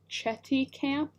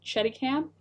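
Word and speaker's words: Chéticamp: I like how it's called Chetty Camp, but when you are a Nova Scotian, it's pronounced like a bad word and then camp, so it's Chetty Camp, but it's it ends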